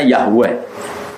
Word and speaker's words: Yahweh: W dengan huruf kapital Eden huruf kapital dengan bacanya Yahweh wong Arab meja yaopo yo wes ono santri